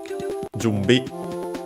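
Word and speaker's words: 準備: and then we have jumbi by the way uh the n uh it is pronounced as m uh because of the following uh labial consonant B jumbi I think accented on the first syllable.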